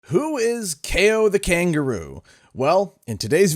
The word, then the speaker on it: Kao: also i gotta say this it's pronounced k-o not cow see the boxing gloves ko meaning ko as in knockout come on now no